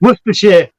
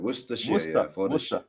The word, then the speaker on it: Worcestershire: Okay, Brian, tell him how to pronounce it. Worcestershire.